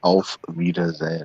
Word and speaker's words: Auf Wiedersehen: It's not Wiedersehen. It's Auf Wiedersehen.